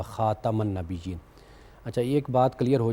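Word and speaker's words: خاتَم: ان کو ہوا ملتی، جب ہم خاتم بولتے ہیں نا وہ یہ غلط تلفظ ہے، خاتم بولنا چاہیے، خاتم النبیین، تے پہ زبر، خاتم النبیین، خاتم النبیین،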